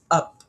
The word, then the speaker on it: up: Ang basa diyan is up. So itong letter U, even though letter U ang up, ang pronunciation niya is yung vowel na ah ah.